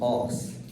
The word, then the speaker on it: AARS: So I'm going to abbreviate it to the official abbreviation, which is AARS, which is pronounced ARS.